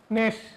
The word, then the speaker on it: GNAS: ন্যাশ বানানটা জি দ্বারা শুরু, GNAS, ন্যাশ জিন মিউটেশন।